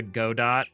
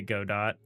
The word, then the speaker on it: Godot: Uh, and they both I think they both say god dot or gdat. They pronounce the t. A lot of people pronounce the t.